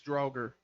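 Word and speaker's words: Duergar: It was not Duragar. the It's, Droger, Draugr, no, Draugr. It's It's like Droger, I think, something like that. They're essentially just evil Droger. dwarves. It's Droger. Droger.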